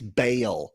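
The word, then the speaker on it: Baal: As we know, Ball aka Molly, don't call him Ball. Like, come on. Of all the ways you can descri It's a demon. Don't call it It's Bale. All right. And really get the country two syllables in the middle there. Bale. Okay. You got to really That really southern it up.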